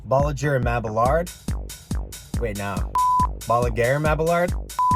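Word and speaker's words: Bolliger & Mabillard: So I noticed that you're trying to pronounce B&M, so the full pronunciation is technically Bolliger and Mabillard.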